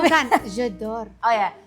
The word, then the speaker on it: J'adore: Itu pronunciasinya Bukan, J'adore. Oh ya, Jedor.